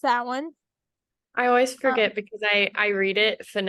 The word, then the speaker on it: Samhain: s m ha a i n but it's pronounced S one I always forget because I I read it phonetically so I'm like Sam Hayne yeah and that's not the word no that's